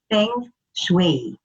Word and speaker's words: feng shui: introduction to feng shui actually uh the correct pronunciation is feng shui now um the feng